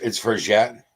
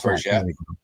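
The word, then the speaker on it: Fargeat: And Caroline Fagit for The Substance. And who did we have here? I know it's for Jet. It's pronounced for Jet.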